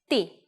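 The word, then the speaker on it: τι: with them by themselves staff and Yota spell only one word in Greek TI even though it's a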